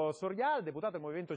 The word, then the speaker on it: Sorial: Soriale, deputato del Movimento 5 Stelle, vicepresidente della Commissione Bilancio della Camera. Benvenuto. Grazie, buon pomeriggio, Giorgio Sorial, così mettiamo l'accento sulla sillaba giusta, grazie.